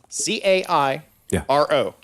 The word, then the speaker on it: Cairo: Cairo. Yeah. Now, where did A.D. Crawford live? Cairo. He lived in Cairo, like the syrup. Just like the syrup.